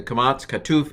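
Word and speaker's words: קָמָץ קָטָן: subconscious okay so the the kamats katuf is a normal o then there's the short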